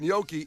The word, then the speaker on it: gnocchi: I leaned into the G. Turns Yeah. out that was Some incorrect. gnocchi? I want that gnocchi.